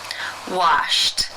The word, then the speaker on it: washed: sound in the infinitive the final sound of the verb is P which is unvoiced therefore it is case one and the Ed is pronounced as a t flipped flipped how do